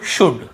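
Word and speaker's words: should: कुड, वुड, शुड कितना easy है।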